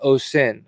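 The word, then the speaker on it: oscen: From Latin, osin, a songbird, and it's pronounced o sin.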